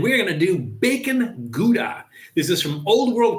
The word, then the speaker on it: Gouda: So again, this is bacon gouda, howda. There's all kinds of different pronunciations. I think gouda is the correct pronunciation.